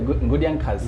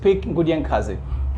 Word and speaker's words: Nkudi-A-Nkazi: Should I say Nkudi-A-Nkazi? Yes. Yes? The original pronunciation. Yes. Yes, my guest for today's edition is Nkudi-A-Nkazi, who is an activist, a hip-hopper, a rapper, and a Pan-Africanist.